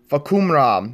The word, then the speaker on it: Fahkumram: trailer for the new tekken 7 original character for kuma ROM that's how his name is pronounced miley yes bakhoum rom is a muy Thai fighter from Thailand and